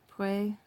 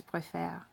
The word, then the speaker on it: préfère: So, je préfère. And you have that accent flip here, which is why this is pronounced préférons and this is préfère.